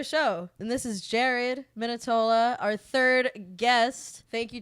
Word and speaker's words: Minetola: and this is Jared minitola our third guest thank you Jared for being on thanks for having me wonderful pronunciation my name that was perfect minitola yeah and Jared Jared